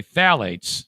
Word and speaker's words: phthalates: that article about uh i think i say phthalates it's spelled p-t-h-a-l-a-t-e-s phthalates was completely true phthalates are